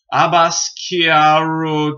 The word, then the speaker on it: Abbas Kiarostami: We got number 45, Taste the Cherry by Abbas Kiarostami. That's how you pronounce his name.